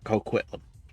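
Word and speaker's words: Coquitlam: I have good excuse for not being able to pronounce that one. Quitlam. I'm just gonna call it Quitlam. There. Co-Quitlam. There. Co-Quitlam. That's what it is. We're gonna go with that.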